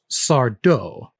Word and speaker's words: Sardo: Mary Beth then reveal sardo no M Accent on the dough if you ever get